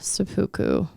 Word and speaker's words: seppuku: After a speech screaming "Long live the emperor," he committed seppuku.